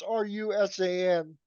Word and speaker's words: Rusan: risking butchering it but Dave rousan or Russen I'm not sure how to pronounce his name it's rusan but I'm sure all hardcore